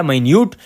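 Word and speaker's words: minute: लेकिन यहाँ पर जो हमने इसकी प्रोनाउंसिएशन की है वो है माइन्यूट। तो माइन्यूट का मतलब हमने बताना है कि ये क्या होता है।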